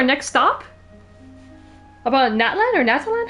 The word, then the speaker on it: Natlan: Natlan.